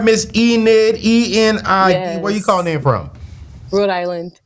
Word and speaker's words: Enid: It's Enid. Okay, wait. Now you gotta say that again. Enid. Spell it for me.